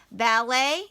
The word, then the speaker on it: ballet: dancing in LA now ballet it looks like ballot but it's it's not an Inc it's not an English word so it actually is